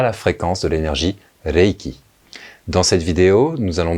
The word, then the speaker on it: Reiki: on ne l'entend pas c'est un L c'est Reiki et non pas Reiki la langue tape au palais vous pouvez vous